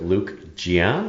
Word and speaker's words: Luke Jian: And I get to be here with Luke Jian.